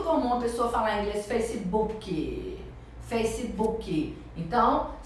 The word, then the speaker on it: Facebook: a pessoa falar inglês Facebook Facebook então é uma palavra composta e Normalmente quando a palavra é composta o o stress né a sílaba a sílaba mais forte é a primeira Então você vai instalar